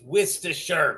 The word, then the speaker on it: Worcestershire: Okay, it's Worcestershire. God damn it! Hell, the Brits even have a hard time. Well, I mean, pronouncing it.